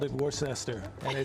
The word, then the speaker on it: Worcester: called it Worcester, and they said, They "What?" corrected you. Yeah, they Yeah, corrected me. I'm It's sure. Worcester.